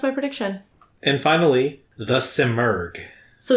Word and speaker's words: Simurgh: I've heard people say it with like an F sound on the end instead of the G, the hard G, which is kind Simurf.